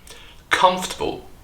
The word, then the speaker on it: comfortable: this comfortable comfortable yes the o r sound here is completely silent and we join the letter F and T together they form a so-called consonant cluster f f so we drop one syllable and we lay the stress on the first syllable comfortable comfortable the second word is